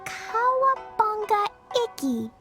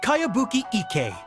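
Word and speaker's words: Kayabuki Ikkei: By Kawabunga Iki. Yoimiya, this is a really strange name. Who's this Kawabunga? It's pronounced Kayabuki Ike.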